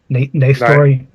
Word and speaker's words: Nastor: Yeah, you tell him it's Nastor.